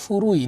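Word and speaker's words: 古い: ফুরুইয়ের কাঞ্জিটা কেমন, এটা হচ্ছে ফুরুই, নিচে কুচির কাঞ্জি আর উপরে এই পাটটা মিলে তারপরে আই, ফুরুই, তার মানে এটা হচ্ছে ফুরু এই দুইটা অ্যালফাবেট মিলে হচ্ছে এই কাঞ্জির উচ্চারণ ফুরু, তারপরে হচ্ছে আই।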